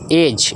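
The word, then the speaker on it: edge: तरह से आपका है एज एज का मतलब किनारा होता है ठीक है एज डी यहां पे साइन साइलेंट है ठीक है उसी तरह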